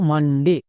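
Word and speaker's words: Monday: check করবই না কেন কারণ এখানে দেখো ও এর ঠিক পরে এন আছে নিয়মে বলা ছিল ও এর পরে যদি এন থাকে তখন ও এর জন্য আকার সাউন্ড হয় তার মানে এখানে রুলস চেক করার দরকার নেই ও এর জন্য আকার সাউন্ড পেয়ে গেছো তাই মাথার উপরে লিখে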